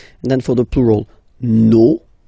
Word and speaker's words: nos: Okay, and then for the plural, nos, vos, and then leur.